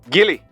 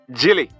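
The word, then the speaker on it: Gill: westmoreland we had said gili but we were wrong even though it is spelled g-i-l-l it is pronounced jilly so it's jilly and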